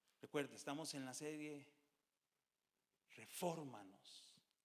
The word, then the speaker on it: refórmanos: Recuerde, estamos en la serie Refórmanos. Y pongo el acento en la O porque es esdrújula, pero refórmanos, y termina en nos.